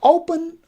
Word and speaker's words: open: So open, we have also two syllables. One is o, while another one is pun. Open. So the stress goes on the first syllable, we say open.